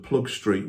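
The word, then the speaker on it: Ploegsteert: And initially, they first went into the front line just in front of Plug Street Wood, and that is the British Tommy's pronunciation of it, just north of Armentières.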